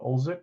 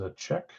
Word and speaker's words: Olczyk: Not Olczyk. Is a check.